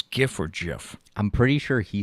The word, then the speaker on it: GIF: played a gif at jiff at his acceptance speech which iterated the pronunciation is jif not gif okay there it is